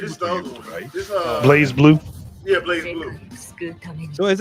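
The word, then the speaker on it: BlazBlue: other day was like Blaz Blue. I'm like, what the hell is a Blaz Blue? Like, no, it's Blaze. Just because the E ain't there don't mean you don't pronounce it right.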